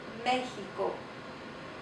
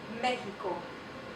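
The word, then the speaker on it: México: Excelente, excelente, and then it can make the H sound. Mexico, Mexico.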